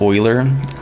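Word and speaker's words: Euler: Forgive me, but Uler is pronounced Oiler.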